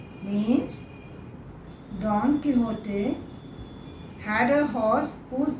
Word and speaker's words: Quixote: Now children, it is pronounced as Quixote because it is a Spanish word.